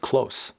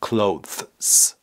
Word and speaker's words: clothes: انگار که میخواید بگید close. Close. You have too many clothes. نمیخواد بگید clothes. اینجوری نیست. بگید close.